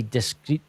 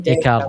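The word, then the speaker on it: Descartes: Oh, I can't pronounce it. It's Renie discrete. Is it It was a French philosopher. It's Dear Ren. Decar.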